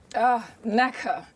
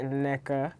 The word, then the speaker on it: Nneka: And I love how you say Nneka. Nneka. When in America they pronounce my name Nneka. I love it. But we're going Nigerian on it.